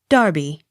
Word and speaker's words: Derby: Accent on first syllable. Derby. Darby.